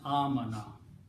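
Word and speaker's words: آمن: And we pronounce this as amana.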